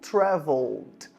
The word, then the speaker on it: traveled: Então, se eu falar eu viajei fica I traveled. I traveled. Então vai ser o som do L, travel e depois direto o som do T, o som do D no final.